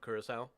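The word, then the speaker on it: Curaçao: Or I'm assuming that's how you say it, Curacao?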